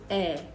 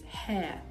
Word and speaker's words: hair: You say, eh. When what you mean is hair. So if you have the H factor, you wouldn't be able to differentiate between hair, hair, and ear, ear.